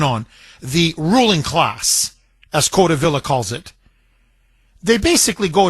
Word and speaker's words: Codevilla: In Angelo Codevilla, I believe is how you pronounce his last name, Codevilla. Angelo Codevilla, he wrote a book.